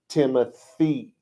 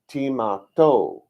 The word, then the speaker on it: Timothy: supposed to pronounce it timothy it was still supposed to be timato timato that's funny i didn't make that connection so just now anyway you weren't supposed to pronounce that th sound well over the years